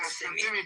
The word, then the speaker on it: Kissimmee: Wait, is that how you pronounce that city? Say it again. The sheriffs are also involved. Kissimmee, Florida. I've been saying it wrong.